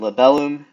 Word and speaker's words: libellum: And then, libellum, uh short, long, and then that's the last syllable.